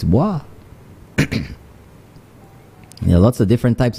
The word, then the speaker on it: bois: a t they'll say boys not understanding that Bois is a derivative is from franch you know so they'll say boys no it's boah there lots of different